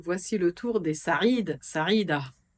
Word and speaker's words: Saïd: Dans la série Magnifiques prénoms arabes, voici le tour des Saïd, Saïda, prononcé Saïd, Sadia.